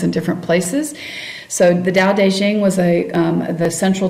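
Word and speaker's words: Tao Te Ching: the da deing um notice the um pronunciation there despite the fact that is spelled um in this spelling T AO T um it and you will see it spelled d a o d as well so just be aware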